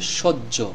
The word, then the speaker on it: সহ্য: বর্ণটি উচ্চারণ হবে না এখানে এই জ ফলার দ্বারা দুইটি জ উচ্চারণ করলে আমাদের এই শব্দটির উচ্চারণ সঠিক হবে বা রাইট হবে শব্দটির